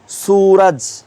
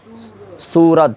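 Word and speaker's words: سورج: এবার দেখেন সুরাজ, দেখতে পাচ্ছেন? বলেন তো সুরাজের মধ্যে ওয়াওটা ওয়ায়ে মারুফ নাকি ওয়া? সুরাজ মানে সূর্য, সুরাজ, হ্যাঁ এটা সৌরাজ না, সুরাজ।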